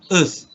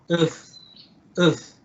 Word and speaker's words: earth: try to pronounce the earth, bumi, earth. If you notice, the wind blowing your palm, that means you are pronouncing it correctly.